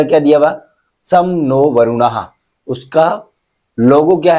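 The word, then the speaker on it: शं नो वरुणः: लोगो क्या है आदर्श वाक्य सम नो वरुणा प्रोनाउंस सम नो वरुणा याय सम नो वरुणा दे रखा इसका मि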